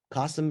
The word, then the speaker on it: Qasim: Qasim rhymes with awesome.